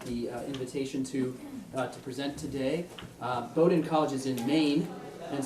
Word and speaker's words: Bowdoin: The first by Michael Franz of, am I going to say this right? Bowdoin? No, Bowdoin. Bowdoin, okay. I mispronounced Waukesha County yesterday, so I can't get on anything past the West Coast.